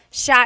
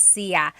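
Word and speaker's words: siya: uh just about pronunciation it's Sha Sha the SI i y combination makes that sh sha sound it looks like it should be pronounced CA there are some regions in the Philippines I believe that say ca but usually in the Central Luzon area it's pronounced Sha Sha then there's Sila they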